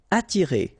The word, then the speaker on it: attirer: Attirer, okay? Don't pronounce the double T. You only pronounce this.